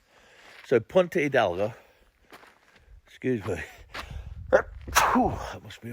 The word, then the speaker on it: Punta Hidalgo: another place today called Punta Hidalgo. Punta Hidalgo. Remember, in Spanish, the H is always silent. So if you see anything with a H in Spanish, kind of use it as a silent letter.